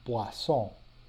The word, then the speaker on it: poisson: Here, the O and the I represent the sound wa, so this is poisson.